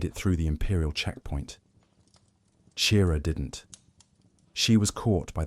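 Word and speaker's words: Qi'ra: Her name was Chira, pronounced like Kira.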